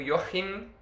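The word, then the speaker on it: Joachim: ele foi lá para visitar o seu primo yorkheim e eu descobri que se pronuncia assim e vou pronunciar assim que eu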